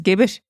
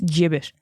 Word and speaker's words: gibbet: So if you're like me, you know, fucking idiot, and you're going around and you're going around pronouncing gibbet as gibbet, well, stop it right now. It's gibbet.